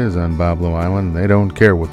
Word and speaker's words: Bois Blanc: ready to go over to Bob Lowe Island also actually named boy Blanc Island where boys walk if you're from Michigan the red